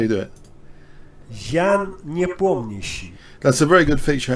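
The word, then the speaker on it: Nepomniachtchi: Jan Niepomniśi. That's how you do it. Jan Niepomniśi.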